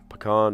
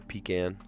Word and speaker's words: pecan: Or pecan pie, depending on how you say it. Pecan or pecan.